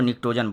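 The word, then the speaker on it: pnictogen: Group है, इसको हम निक्टोजन ग्रुप बोलते हैं। यहाँ पी साइलेंट है, इसको निक्टोजन बोलते हैं।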